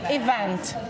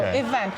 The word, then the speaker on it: event: problematic like for example event. Yeah, a lot of check people they will say event or something like this. So we go event and then we just hit the balloon on that correct syllable.